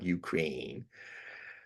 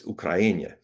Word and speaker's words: Ukraina: I've always been for people pronouncing names as the natives pronounce them, not Ukraine. It's Ukraina, not Russia.